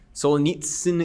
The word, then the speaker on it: Solzhenitsyn: Solzhenitsyn is correct.